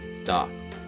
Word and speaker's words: だ: So this is a ta with dakuten, so it is pronounced as da.